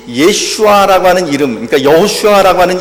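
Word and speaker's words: ישוע: 예수님의 이름이라고 하는 그 예수라고 하는 이름이 히브리어로는 예슈아라고 하는 뜻을 가지고 있고 예슈아라고 발음을 합니다.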